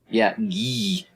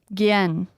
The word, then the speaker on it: Gien: Think of it as like a gi, as in, you know, like you're in karate, but then N.